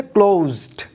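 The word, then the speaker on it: closed: আছে, তাহলে স সাউন্ড, কিন্তু একটু খেয়াল করুন ক্লোজ এটা কিন্তু স না বা স না, বরং অন্তর্য এর মতো একটা সাউন্ড, সেটা কি হচ্ছে, ক্লোজড। সুতরাং এই শব্দটির উচ্চারণ হয়েছে ক্লোজড।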